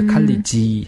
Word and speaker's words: college: 그래서 college 하라고 할 때는 E 모음이 없어요. 그래서 college 해버리면 이상한 발음이 되는 거고 그런데 에너지라고 할 때는 이 몸이 있어요.